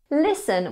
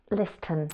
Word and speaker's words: listen: Listen was another one. Listen. Listen has a silent T.